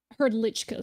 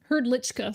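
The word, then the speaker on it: Hrdlička: uh it is um heard lichika sorry he's check welcome yeah there's not that many languages that will let an r stand as like the core of a syllable yeah so okay he's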